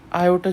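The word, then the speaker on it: aorta: और हमारे पास जो लार्जेस्ट आर्टरी है उसका नाम है ओर्टा, आयोटा जिसे बोलते हैं, आजकल इसकी प्रोनाउंसिएशन चेंज हो गई है, आयोटा बोलते हैं सब।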